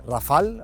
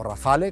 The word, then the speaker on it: Rafale: viene escrito a mano pone rafal o rafale como lo queramos Llamar según lo pronunciemos en inglés o en francés y aquí un pequeño